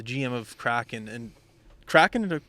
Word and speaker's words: Kraken: francis he's the gm of crack and and kraken to pronounce it correctly kraken yep crap seattle cracking i think it's a